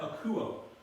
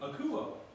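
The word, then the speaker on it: ἀκούω: you can pronounce that akuo and it's got a the acute accent mark so it goes up with it akuo I hear the rough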